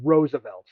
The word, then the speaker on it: RSVLTS: It's called uh It's pronounced Roosevelts, like the president.